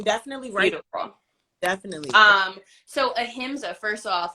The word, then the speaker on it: ahimsa: I don't know how to say the pronunciation, so I don't even pronounce anything. Ahimsa. Ahimsa.